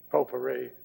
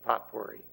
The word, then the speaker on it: potpourri: word that i did potpourri there's no reason it should be pronounced that way if you look at this spelling it's a pop quarry